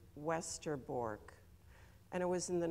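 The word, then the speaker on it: Westerbork: transit camp in Holland which is westerborg you would pronounce it westerborg and it was in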